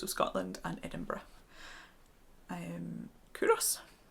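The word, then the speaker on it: Culross: Scotland and Edinburgh um kurus you don't sound that L it's a silent L and I chose these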